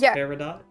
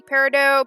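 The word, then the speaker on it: peridot: commonly pronounced yeah it's probably originally parido but as I said it has become Regional and uh borrowed words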